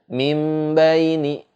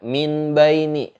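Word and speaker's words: مِنْ بَيْنِ: Jadi kita cara bacanya itu enggak juga dengan mim baini gitu, enggak, tapi disertai ada dengungnya. Mim baini, mim baini, enggak juga dibaca min baini. Itu pasti salah karena min baini itu hukumnya jelas.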